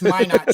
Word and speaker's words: Minot: Help me out here, Coach. Minot. Minot. Yeah, I was going to say Minot. It's Minot State in 2015.